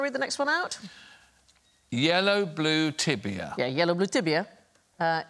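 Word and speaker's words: я люблю тебя: you want to read the next one out yellow blue tibia yeah yellow blue tibia uh is yellow blue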